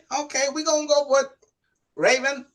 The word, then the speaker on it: Rayven: I'm not going to mess up her last name, but her name is Rayven. And did I pronounce that right? Yes, you did.